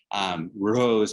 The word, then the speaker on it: Rrose: Rrose, R-R-O-S-E, but it sounds like Eros, Eros, E-R-O-S Sélavy, Rrose is life.